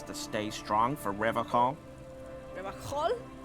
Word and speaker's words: Revachol: Revachol? He pronounces Revacol with a hard K, unlike other people.